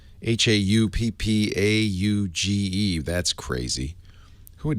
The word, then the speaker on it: Hauppauge: There's a company called Hauppauge, Hauppauge.